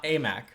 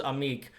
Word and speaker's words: Aimaq: Big Maple, as we'll refer to him as, Fardaws Aimaq. I thought it was Amik.